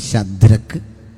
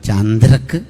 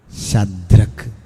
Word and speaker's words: ശദ്രക്ക്: അവരുടെ പേര് നമുക്കറിയാം: ശദ്രക്ക്, മേശക്ക്, അബേദ്നെഗോ. ചില ആളുകളതും ഉച്ചാരണം തെറ്റിച്ച് ചന്ദ്രക്ക് എന്ന് പറയാറുണ്ട്. അങ്ങനെ ഒരാളില്ല.